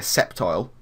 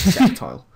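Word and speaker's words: Sceptile: in the form of Mega septile that's that's how you say it Ethan it's it's septile uh I think he's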